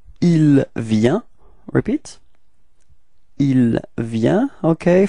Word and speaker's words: il vient: So the masculine form, it's il vient. Repeat. Il vient. Okay. Final T is not pronounced, so you get the same form as for je and tu.